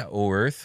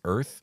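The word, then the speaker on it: Oerth: I was reading the oarth which is very very obviously spelled o Earth it was originally supposed to be pronounced just as Earth which is like well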